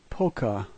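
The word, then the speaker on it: полка: The first letter is pe, which is a P sound. All other letters are the same as in English, and this word is polka.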